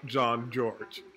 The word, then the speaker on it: Jean-Georges: jean-georges alright guys so it was this very moment that I learned that I've been saying his name wrong it's actually chef John George alright so I know